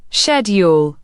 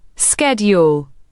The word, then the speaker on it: schedule: The word schedule shows both pronunciation and spelling differences. British, schedule. American, schedule.